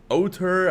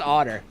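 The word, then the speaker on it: Ótr: one's this oh okay auteur i don't know how to pronounce that versus otter oh it's otter just otter yeah uh a lot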